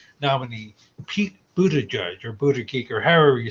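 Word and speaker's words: Buttigieg: history well speaking of Buda okay the official pronouncation is Buda judge but okay and I'm not trying to be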